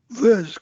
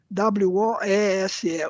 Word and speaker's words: Woese: Isso aí, olha, o Carl Woese, o homem que descobriu as arqueias, Woese, como é que você pronuncia isso? W-O-E-S-E, Woese.